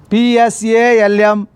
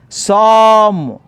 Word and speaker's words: psalm: PSALM, psalm. P is silent, L is silent, only psalm.